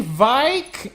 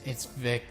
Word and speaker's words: Vic: But other ones, it's like, Kenny Vike? It's Vic.